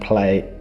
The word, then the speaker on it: Plaey: furniture and I just and play was spelled with a p-l-a-e-y which definitely confuses most delivery drivers but other than that's